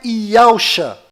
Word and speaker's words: Yahushua: E a pronúncia é Yahushua.